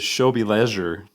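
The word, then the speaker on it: W żłobie leży: infant Holy Infant lowly in Polish you pronounce it as shil leure and so there's lots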